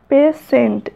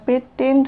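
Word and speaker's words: patient: তো নেক্সট ওয়ার্ডটা দেখো, পেশেন্ট। এখানে টি হচ্ছে সাইলেন্ট লেটার। এখানে টি এর উচ্চারণটা আসছে না, পেটেন্ট হবে না বা পিটেন্ট হবে না, পেশেন্ট।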